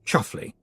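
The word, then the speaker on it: Chumsfanleigh: was rattled angrily Roland the Chums fanley pronounced chuffle it wasn't his fault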